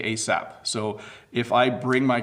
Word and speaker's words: ASAP: Beto has, hello Bob, I would like to ask how to pronounce ASAP. We actually say ASAP.